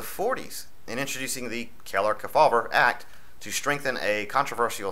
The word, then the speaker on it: Kefauver: to control all these operations and senator estes kefauver k-e-f-a-u-v-e-r hope i'm pronouncing that correctly too as far back as the 40s in introducing the keller kefauber act to strengthen a controversial section of the